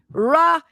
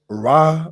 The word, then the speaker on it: Ra: So Ra, in many cases, was said to be pronounced as Re.